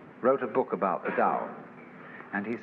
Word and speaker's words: Tao: You don't have to make up your mind how to beat it.